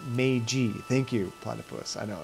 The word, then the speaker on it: Meiji: And Platypus, Meiji is actually pronounced Meiji.